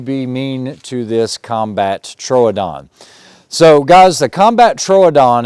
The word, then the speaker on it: Troodon: body and it's also a little fatter correct pronunciation is a combat Troodon Troodon means wounding tooth or it's kind of like